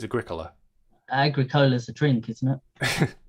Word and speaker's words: Agricola: Which I used to call Agricola, but I think it's Agricola.